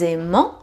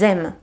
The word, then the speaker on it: aiment: Et il, elle, plural, the verb will end with E-N-T, E-N-T. But it is silent. Because if you know a bit of pronunciation, you know that E-N together makes en. But here you don't pronounce it. So it is not elles aiment, but elles aiment.